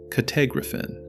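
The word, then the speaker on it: κατέγραφεν: The text now uses kah-teh-grah-fen, pronounced kah-teh-grah-fen, a different verb form altogether.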